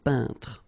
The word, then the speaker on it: peintre: So remember when you get this E-I-N together here, then you pronounce this un sound. So nasal in your nose, un peintre.